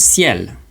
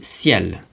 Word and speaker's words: ciel: to give is the word ciel. Repeat after me, ciel. Ciel. Ciel. Ciel. And ciel means sky. And so when the C is followed by an E or an I, it's going to be pronounced se.